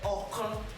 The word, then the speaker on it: ọ̀kan: We call it ọ̀kan, or you say ọ̀kan.